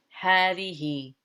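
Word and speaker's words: هذه: use the feminine form hadi okay and i told you before that this ha is pronounced as a long ha as though there is an alif after it but the alif is not there it's one of the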